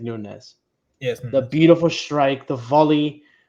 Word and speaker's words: Nunes: his own boots, some brand new boots, Mateus Nunes or Nunez. I don't know how to say it. I think it's Nunez.